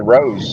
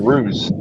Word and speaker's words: Rose: I thought you pronounced it Rose. You said Ruse.